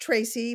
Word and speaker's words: Treacy: c y and um it's pronounced tracy but it's e a so um tracy at